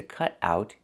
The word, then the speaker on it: cut out: Pronunciation: cut out, cut out. The T in cut changes to a fast D because it's between vowels. Cut out.